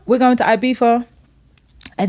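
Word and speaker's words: Ibiza: not we're going to ibifa and it's gonna be a white label at Beef off that's how you say it yeah ibifa ibifa okay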